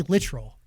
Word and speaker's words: Littrell: very proud literal yeah literal like literally is it really is